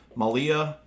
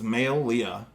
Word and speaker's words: Maileah: or something like that malia no it's not malia it's male leah if you go by